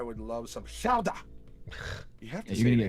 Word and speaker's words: Gouda: He says it's pronounced Gouda, not Lit- Gouda.